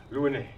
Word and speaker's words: Louinet: And all the way from France is Louinet. Yeah, you pronounce it right.